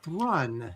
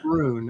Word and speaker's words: Thrawn: But in 3 more weeks Uh Henry Thrawn says it is it's rhymes with run, so it's Thrawn, not Thrown.